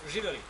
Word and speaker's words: živeli: We say živeli.